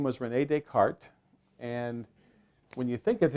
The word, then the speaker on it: Descartes: to spell descartes oh like d-a-y-k-a-r-t that's all right descartes no because it's not english and so what it is is it's des cartes and you say descartes all right so that's